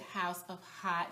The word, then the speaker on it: Haute: coty's Channel and hot she spells it h o u t I guess that's for hot Couture but um she pronounces it House of hot so play on words